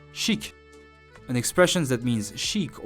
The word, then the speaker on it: chic: Listen to its pronunciation and repeat each time again. Shock. Shock. Shock. Word number 6, chic.